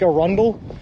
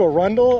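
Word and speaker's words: Arundel: means a funny Place Maine has a ton of weird pronunciated talents as well like a Rundle you're into a Rundle a rundle's built like a-r-u-n-d-e-l and it just does not feel like you should pronounce it around but none of it feels right first started watching your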